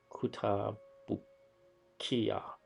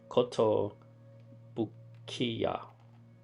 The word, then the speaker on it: Kotobukiya: I think that's how you pronounce it. Yeah, Kota by Kotobukiya. No, I'm sorry. Kotobukiya.